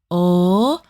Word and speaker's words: ㅗ: O.